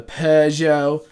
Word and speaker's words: Peugeot: the PES yo 908 I don't know how you say that without you know an accent what Americans say piu gets pizanno no you can't do it without an accent it sounds wrong otherwise yeah the the Peugeot